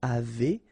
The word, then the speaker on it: avez: nous avons, vous avez, a Z at the end will produce this E sound, avez, little link between the